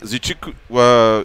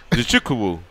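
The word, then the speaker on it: Nzechukwu: Craig defeated Kennedy uh zuku uh oh boy I studed this one zukuu zukuu yeah the Z needs to be pronounced more than zukuu via submission sodik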